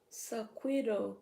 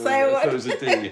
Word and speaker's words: saguaro: I thought it was saguaro. It's saguaro.